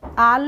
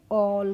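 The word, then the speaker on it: all: A double L को हम पढ़ेंगे क्या पढ़ेंगे आल नहीं पढ़ेंगे इसको पढ़ेंगे ऑल कैसे पढ़ेंगे ऑल पढ़ेंगे ऐसे ही है सी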